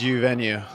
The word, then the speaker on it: Uvenu: Did I pronounce it right? It's you venue.